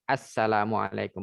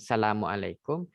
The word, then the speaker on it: Assalamualaikum: aja di depan ini harus jelas Assalamualaikum bukan Salamualaikum bukan sambel alaikum bukan Meko bukan ask where rwb ya jadi diucapkan dengan lengkap dan kalau dipilih juga